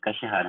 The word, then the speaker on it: Kashihara: Tem o próximo aqui é Kashihara, é assim que pronuncia? Ou Kashihara, não sei. Opa, é isso mesmo, Kashihara.